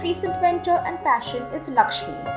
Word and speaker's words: LXME: mentor and passion is lakshmi which is spelled as lxme lakshmi is a community